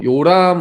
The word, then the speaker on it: 여호람: 남쪽에 아하시아 왕과 이 북쪽에 있는 여기 여호람이라고 했는데 요람이라고 읽으세요. 요람 왕이 동맹 관계였어요.